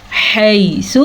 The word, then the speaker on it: حَيْثُ: حَيْثُ حا کے تلفظ کا دھیان رکھنا ہے. یہ یالین ہے اس کو لمبا نہیں کرنا.